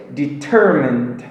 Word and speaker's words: determined: Se lembrem que a sílaba tônica é no T é determined, beleza?